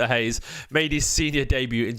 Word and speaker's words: Reis: the pom you Franks I think he pronounced hay by the way V Hayes made his senior debut